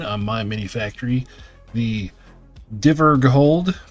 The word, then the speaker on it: Dvergrhold: The Dvergrhold, pronounced Dvergrhold.